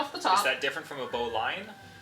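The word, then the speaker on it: bowline: Is that different from a bow line? It's the same thing as a bow line. It's It's a bow line. You're just saying it too quickly and dropping your pronunciation.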